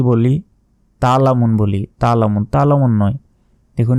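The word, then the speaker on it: تَعْلَمُونَ: বলবেন কাল্লা সাওফা সাওফা তালামুন আমরা অনেকে কি বলি তালামুন বলি তালামুন তালামুন নয় দেখুন এখানে আইন অক্ষর আছে আইনের তো একটা উচ্চারণ আছে সে আইনের উচ্চারণ বাদ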